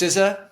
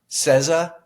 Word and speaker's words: SZA: say it siza just it's just siza it's not cza or now I'm questioning